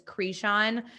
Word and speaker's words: Kreshon: It's a lot easier to say than our maiden name, which is Creshon, but it's pronounced it's spelled Kreshon.